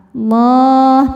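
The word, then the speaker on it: الله: Cara bacanya lam ini dibaca dengan tebal. Allah, pangkal lidah angkat.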